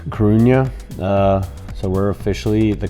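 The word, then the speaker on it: Coruña: club deportiva de la i think i pronounced it wrong earlier it's krunya uh so we're officially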